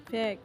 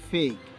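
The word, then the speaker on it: fake: উচ্চারণ হবে বেবি যার অর্থ শিশু বা বাচ্চা ফেক শব্দটি আসলে ফেক না এর সঠিক উচ্চারণ হবে ফেইক যার অর্থ বুয়া বা মিথ্যা লেক নো নো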